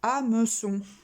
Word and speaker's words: hameçon: Pareil pour hameçon. O-N, avec le C, ça fait con. Donc, con. Non, on met la cédille.